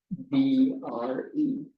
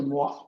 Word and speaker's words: Moivre: Moivre. De Moivre. I think it's Moivre. Maybe the R is silent. I'm pretty sure it's French.